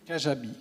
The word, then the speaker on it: Kajabi: Comment ça s'écrit? Kajabi.